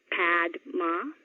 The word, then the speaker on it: Padma: The first name's quite easy, just 2 syllables. Padma. Not Padma, but Padma.